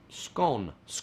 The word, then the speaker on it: scone: Kira asked, how much does the scone that rhymes with John scone, how much does a scone cost?